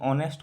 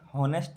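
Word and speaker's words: honest: ऑनेस्ट को pronounce जब कीजिएगा तो हॉनेस्ट नहीं होता है, ऑनेस्ट होता है। क्या होता है? ऑनेस्ट, ओ से प्रोनाउंस, ओ से शुरू होता है।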